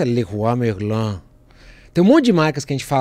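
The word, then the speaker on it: Leroy Merlin: que é legal também tem um monte de marcas que a gente fala no Brasil do jeito que a gente pronuncia aqui não é o jeito que se pronuncia lá né aquela marca de materal de constitução loja de material de construção Leroi Merlin lá na França leris merlan tem um monte de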